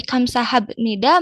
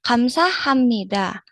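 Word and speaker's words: 감사합니다: pengucapannya agar tidak tanggung agar tidak kagok dari Kamsa habnida menjadi Kamsa Hammida. Seperti itu. Jadi yuk rebun enggak perlu bingung lagi kalau bertemu ee huruf bieb dan N. Kenapa dibacanya M? karena aturan pengucapannya memang seperti itu.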